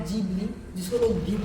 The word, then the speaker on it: Ghibli: कर रहा है लेकिन लोग इसका उच्चारण गलत कर रहे हैं य गबली नहीं जीबली होता है लेकिन यह कोई बड़ा